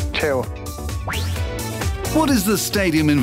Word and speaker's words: Chievo: How do you say Chievo in local dialect? Chievo.